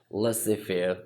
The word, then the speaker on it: Laissez-Faire: It looks like Laissez-Faire Leadership Style, but Z is silent here, so we normally call it Laissez-Faire Leadership Style.